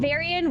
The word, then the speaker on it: Varian: And Varian rhymes with Solarian, which is also amazing.